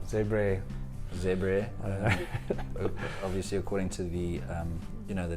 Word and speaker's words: Zebre: So we start with, I think you pronounce it Zebra. Yeah. Zebre.